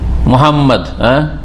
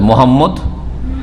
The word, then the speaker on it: মুহাম্মদ: বিকৃতি আছে তার এটা মোহাম্মদ হয় মোহাম্মদ দেশী নাম আর না হলে নন মুসলিমদের কাছে কাফেরদের কাছে মোহাম্মদ প্রফেট মোহাম্মেদ মোহাম্মদ নয় বললাম মুহাম্মদ মুহাম্মাদুর রাসুলুল্লাহ তাই না মনে